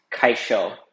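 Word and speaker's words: kaixo: looks like you know because of the x in it um you might confuse it but it's kaisho so you know don't mess that one up.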